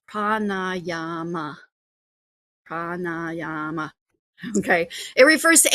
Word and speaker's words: pranayama: Um it's pronounced pranayama.